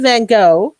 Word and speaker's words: Van Gogh: i would use vincent van gogh and i know that's not how you pronounce it in dutch but that's how we pronounce it in north america uh i knew that